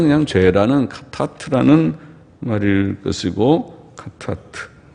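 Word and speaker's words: חטאת: 속죄는 그냥 죄라는 카타트라는 말일 것이고, 카타트. 예. 속죄제는 카타트라는 말이고, 카타트, 카가 거친 수미에서 하타트라고도 표현하고 하보다는 카에 가까워서 카타트라고 발음을 하고, 속건제라고 하는 것은 아샴이라는 다른 단어입니다.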